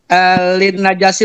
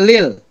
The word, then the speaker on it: lin najasi: Sama itu tadi lin najasi bukan lil. Tadi dibacanya lil. Terus yang benar Lin najasi.